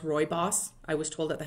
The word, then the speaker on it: rooibos: i really like right it looks like rooibos but but it's pronounced roy boss i was told at